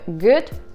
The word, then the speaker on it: good: Например, в слове «good» звук краткий «у», а в слове «food» звук длинный.